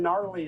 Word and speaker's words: gnarly: The silent G in gnarly.